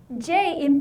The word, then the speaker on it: ji: J in Pinyin is pronounced Ji. Ji. G. It's like the J in the word Jeep, but the difference is when you pronounce the J in Jeep, your lips are rounded. Jeep, right? G. But when you pronounce the Ji sound in Chinese, your lips are spread wide.